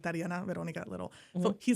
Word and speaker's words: Tariana: I'm Tiana, but I get Toriana, Torina, Tatiana, everything in between.